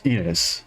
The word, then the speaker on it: Ines: I don't think I've ever actually heard that name pronounced in English. It's Ines.